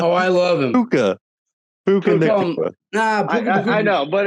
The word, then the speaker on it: Puka: Pukua. Oh, I love him. Puka.